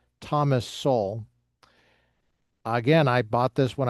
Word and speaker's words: Thomas Sowell: Thus soul pronounced Thomas Soul.